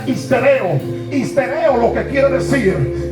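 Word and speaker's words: ὑστερέω: Por eso cuando nosotros buscamos esta palabra en griego, hay una palabra que se pronuncia histereo.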